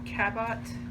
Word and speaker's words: Cabot: Okay, so I have this Cabot, I believe it's pronounced it, C-A-B-O-T.